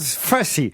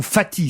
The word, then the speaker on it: Fathy: Il s'appelle Charles Fathy, ou Fatty, ça s'écrit F-A-T-H-Y, parce que je ne voudrais pas vous induire plein d'erreurs, comme dirait l'autre.